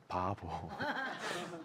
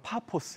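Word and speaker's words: Paphos: 한국말로 좀 4 예 좀 이상한 발음이 줘 바보 용어로 파 포스 에어 4 우리나라 성경으로 발음 4 이제 바보라 그래요 이건 정치 수도 입니다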